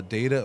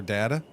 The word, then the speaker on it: data: Do you say uh uh uh data or data? I will say both. I will say both. I that one is interchangeable on me.